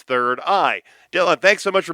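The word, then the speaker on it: 3rd-I: It's called Third I, but it's spelled like this. The number three and then RD, a dash, and then the letter I. sounded out and it's third eye.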